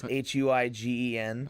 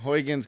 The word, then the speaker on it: Huygens: the cassini-huygens mission and that's Huygens hu igen Huygens cuz apparently that's the best we can pronounce it since we're not Dutch yeah and we can't